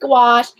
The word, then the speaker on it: gouache: It's pronounced gouache, but it's spelled Gouache. Yeah, I think I probably spelled. Oh, never mind. She's like saying gosh or wash.